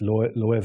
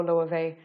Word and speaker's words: Loewe: So for anyone that doesn't know Loewe, absolutely check it out. So it's spelled Loewe, but it's a Spanish brand, and that's why the W sounds like a V.